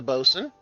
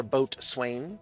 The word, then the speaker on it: boatswain: However, he is a helmsman, while She of Cups is a bosun, or boatswain, depending on how you choose to pronounce the old tongue.